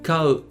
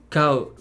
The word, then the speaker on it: kau: To buy would be kau, kau, kau. Try not to pronounce it as cow or something. Say cow. Try to pronounce the ka and the u very clearly.